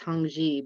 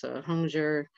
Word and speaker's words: Hongzhi: hunger young Joey soompi I heard it pronounced Hongzhi but Gendo says it's home Joe Joe Joey and he's actually well